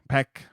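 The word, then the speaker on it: Baek: Peck, who is a children's teacher at a preschool.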